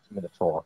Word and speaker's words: Minotaur: Well, the bit I most dislike, though, is the pronunciation of A-U-R as R when it should be or. It should be. Minotaur, definitely.